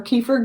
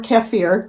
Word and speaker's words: kefir: bought like dried water kefir grains or anything like that or kefir I usually pronounce it both ways nowadays my first water